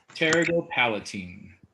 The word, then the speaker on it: pterygopalatine: The Oh, pterygopalatine branch. okay. How do you pronounce that again? Pterygopalatine.